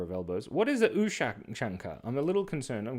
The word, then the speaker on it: Ushanka: Ushanka.